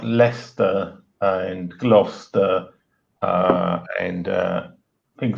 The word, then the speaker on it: Leicester: Well, I mean, there's like places like Leicester and Gloucester and things like that, which I've spelt.